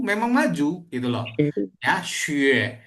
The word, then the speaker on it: 学: Nggak mungkin kita baca 学. Nah, kalau 学 itu jadi I nanti. Ya. Kalau kita bacanya seperti ini, nah ini seru ya. Kalau kita bacanya 写 ya, 写 tersenyum, 写 itu artinya menulis, nada 3. Ya, 写我写好了. Aku udah selesai menulis. 写 menulis tersenyum. Tapi kalau belajar itu 学.